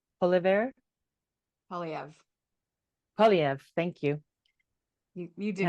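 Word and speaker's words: Poilievre: And the example I have is that, you know, Canada was going to go for, I don't want to say his name wrong, Polyev. Polyev.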